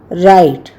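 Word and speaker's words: right: श जी एच ग अगर जी एच के पहले कोई वल लगा हो तो जी एच का उच्चारण साइलेंट हो जाता है जैसे आर आई जी एच टी राइट इसमें ग नहीं लगाया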